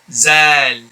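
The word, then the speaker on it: ذ: This one here is Zal. Zal. And apparently a lot of brothers pronounce this letter here as za as well, which is again inappropriate due to the fact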